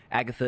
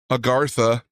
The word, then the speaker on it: Agartha: of Agatha no Agatha is believed to be a Agartha he just completely mispronounced it bro there goes your argument huh You said it wrong. Agatha. Agartha. There's Where's the R?